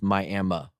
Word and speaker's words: Miami: There was a casino, a few of them, and it's spelled Miami, but it's Miami, Oklahoma. We're not very good at spelling things and pronouncing things in Oklahoma, but in Miami, Oklahoma, about an hour away from Tulsa, they